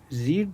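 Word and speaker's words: read: The teacher told the student that they had रीड that book that day. देखो रीड का जो है ना रीड रे रेड रेड प्रोनाउंसिएशन अलग होता है।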